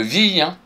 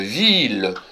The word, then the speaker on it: ville: on avait une ville ont dit pas une vie on dit bien une ville il fallait le souligner même si c'est écrit